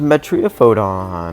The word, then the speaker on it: Metriaphodon: And then yeah, of course, we're going to use Metriopodon.